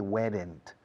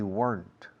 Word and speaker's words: weren't: Recordad, no se dice weren't. We weren't. Una sola sílaba.